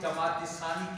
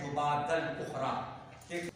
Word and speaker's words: جمادی الاخری: ابو بکر صدیق کو غلط نام میں جماعت ثانی کہتے ہیں، اصل اس کا تلفظ ہے جمادی الاخری۔ تاریخ 5 فروری 22